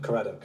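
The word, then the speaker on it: Caradoc: Number one, is your full name Karadok? Yes. Correct. Do I just say yes or no? Say yes or no. Yes. Did I pronounce that right? Karate.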